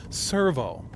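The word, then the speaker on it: Sirveaux: It's not Servo anymore, it's Servo. It sounds the same, only it's spelled S-I-R-V-E-A-U-X.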